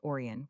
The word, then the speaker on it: Orion: The men answering to Alvin, Alva, or Orion, pronounced Oran with the accent on the first.